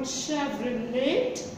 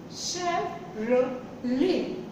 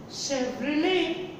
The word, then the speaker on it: Chevrolet: And you may make the same mistake in this, because again there is a T in the end. So it is not Chevrolet. Chevrolet. It is Chevrolet.